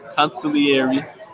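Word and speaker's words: Consigliere: You got to pronounce it correctly. The G is silent. It is. Consigliare.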